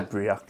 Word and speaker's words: Breac: Just say Breac. Breac. It even has a pronunciation thing on the back that I didn't even look at.